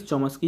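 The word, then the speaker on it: Chomsky: कोमस्की का सिद्धांत को आप चौमस्की का सिद्धांत भी कहते हैं क्योंकि इनकी जो स्पेलिंग होती है CH से होती है, कई बार कोमस्की लिख देते हैं, कई बार चौमस्की होता है, जनरली चौमस्की ही पढ़ा जाता है, लेकिन यहाँ पर आप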